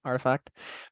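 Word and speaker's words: RTFKT: So that's how you say it, Artifact.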